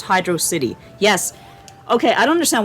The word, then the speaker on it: Hydrocity: think oh yeah oh yujinaka also recently tweeted that although he doesn't speak english he believes is pronounced hydro city yes okay i don't